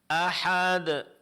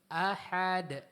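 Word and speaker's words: أحد: Nah, huruf yang diqalqalakan. Ahad. Ahad. Ahad.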